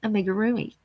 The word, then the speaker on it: amigurumi: And it's called amigurumi.